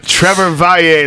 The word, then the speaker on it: Trevor Valle: Trevor Valle, ladies and gentlemen. That's how you say it if you want to be cool.